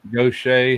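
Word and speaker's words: Gautier: Are you telling me g a u t i e r is gocha? That's go. What? That's go. How do you say pronounced? It's not goier or whatever you was thinking. I was thinking Yeah. Gaudier. It's pronounced go. How?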